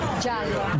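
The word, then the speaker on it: giallo: Jallo.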